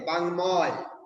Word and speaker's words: বাগ্মী: তাহলে মফলা উচ্চারণ হয় যেমন বাগ্মী গর সাথে ওর সাথে বাংময় মফলার উচ্চারণ হয় বাক যুগ্ময় উচ্চারণ হলো বাংময় তখন মফলার উচ্চারণ হবে